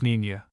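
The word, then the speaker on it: Niña: When finally ready, Columbus's little fleet consisted of three caravl, the Santa Maria, the Pinta, and the Nenina, pronounced Ninia.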